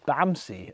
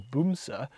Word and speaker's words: Bamse: vehicles ever it's called bamsie um in case anyone wondered b-a-m-s-e um actually i think the norwegian pronunciation is boom sa um but it means